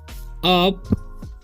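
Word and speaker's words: up: सी gets अप, उप नहीं पढ़ना है, यू का उच्चारण यहाँ पर अ होता है, ठीक है।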